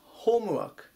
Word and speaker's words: homework: なります 350 板 homework 本は発音まず注意ですねホームではなくて豊富 6 が強く読むところ最初になります宿題ですね